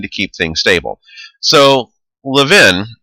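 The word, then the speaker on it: Lewin: keep things stable so Levin I know there's a w there but it's actually pronounced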